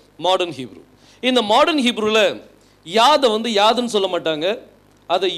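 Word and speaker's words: יוד: சொல்லுவாங்க யோத் அப்படின்னு சொல்லுவாங்க ஏன்சியன் ஹீப்ல அதை என்ன சொல்லுவாங்க யாத் யாதுன்னா இன்னைக்கும் கைன்னு தான் சொல்லுவாங்க கைக்கு என்ன சொல்லுவாங்க யாதுன்னு தான் சொல்லுவாங்க ஆனா இன்னைக்கு வந்து மாடர்ன் ஹீப்ல அதை உச்சரிக்கும் போது யோத் அப்படின்னு சொல்லி உச்சரிப்பாங்க இதை எழுதும்போது பாருங்க நல்லா கவனிங்க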